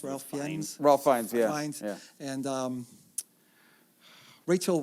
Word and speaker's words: Ralph Fiennes: the main character, Ralph Fiennes, how do you pronounce Ralph Fiennes? Ralph Fiennes, yeah.